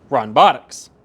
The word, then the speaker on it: Ronbotics: details into this company, Ronbotics. Yes, I've been saying it wrong this entire time. Somebody pointed out to me that there's an N in there.